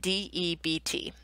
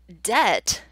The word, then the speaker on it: debt: What's interesting is that before the Renaissance, debt was actually spelled in Middle English as D-E-T, which makes sense, right? We don't say or pronounce the B in the word debt.